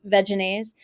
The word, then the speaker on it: Vegenaise: primarily I think dressings these days but like Vegenaise which that's how it's pronounced not vegan is veganism but anyway they